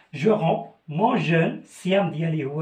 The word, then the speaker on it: romps: Alors, quand je frappe le siam et le kebda, alors je romps, quand je frappe, je romps, la PS ne se prononce pas, je romps mon jeune, siam d'yali, ou le jeune, mon jeune ou le siam.